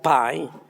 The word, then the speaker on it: pie: escribe pie significa este se escribe pie se pronuncia pay y significa pastel en